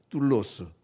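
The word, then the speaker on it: δοῦλος: 로스라고스 아니지만 따라서 해보시죠 둘로스 예 발음을 강하게 하면 둘러쓰고 약하게 하면 둘로스 둘러요 러스 러스는네 가지의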